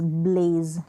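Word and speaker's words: blaze: फिर यहाँ पर देखिए ब्ल एज, ब्लेज, लास्ट में ई साइलेंट है, बी एल को ब्ल,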